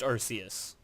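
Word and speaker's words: Arceus: question where is which is the first Pokemon arus is it archus Mew Bulbasaur or Ryon it's arus is it y it's arus okay no I mean it's pronounced arus yeah arus yeah that's what I was referring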